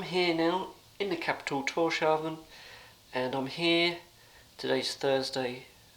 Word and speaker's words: Tórshavn: But we're in the capital of Tórshavn, I think it's pronounced, and yeah, nice view.